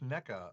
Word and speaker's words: NECA: earth actually return with neca uh that's the other way of pronouncing the toy company i know but um